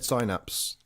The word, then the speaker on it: synapse: game yeah yeah yeah I've I've said sinaps all my life up until we started talking about this game and you two both said synaps and I was like oh maybe I've been saying it wrong this whole time but now it's just a yeah it's just a British American English difference well to signs yeah